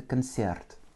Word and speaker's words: концерт: Avec un accent tonique sur le Y, ce qui rend mon O comme un petit A. Это концерт.